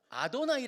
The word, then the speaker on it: 아도나이: 이스라엘 사람들은 그거를 그 이름을 얘기를 못 하고 아도나이 아고 읽어요 그걸요 그냥로드 주님이라고 읽어요 그러다 보니까 그 히브리어가 헬라어로 번역이 될